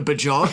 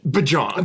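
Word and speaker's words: Björk: Do I look like I listen to Bjork?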